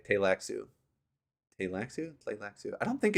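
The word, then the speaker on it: Tleilaxu: combat though just keep saying the first LS silent and if you come to you should say tailaxu play I don't think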